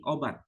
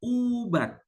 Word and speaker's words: ubat: bukan rusak tapi rosak kalau kita misalnya menyebut obat o b a t obat sementara di Malaysia tidak menyebut obat tapi Ubat pakai u Nah itu dialek sebetulnya